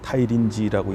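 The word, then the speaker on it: 大林寺: 그 미야기현의 센다이 근처에 가면은 대림사라는 절이 있습니다. 타이린지라고 읽는데 거기에 가면은 지금도 안중근 의사와 안중근 의사의 옥중 생활할 때 그 간수였던 치바도 시지라는 그 헌병이 있습니다.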